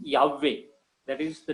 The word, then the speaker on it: Yahweh: Yahweh is the very proper pronunciation according to the Hebrew scripture.